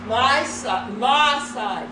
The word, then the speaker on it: Maasai: Maasai village. I finally learned how to pronounce it.